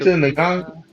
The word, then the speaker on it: Lupita: Lapita Lupita, Nango, I think.